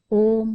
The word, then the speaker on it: ओम: आपसे पहले ही 3 बार उच्चारण करवाया, ओम शांति। ओम शब्द में 3 अक्षर है, मैं वही हूं। अ उ म, मैं वही हूं जिसका स्वभाव शांति है।